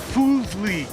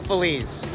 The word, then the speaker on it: Feliz: Pedro Fuzley. Pedro Feliz. Okay, it's spelled Third backwards.